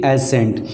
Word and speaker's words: ascent: और एक इसी से मिलता जुलता अगर फोनेटिक साउंड की बात किया जाए तो सेम प्रोनाउंसिएशन है, और वो क्या है, ASCENT, एसेंट।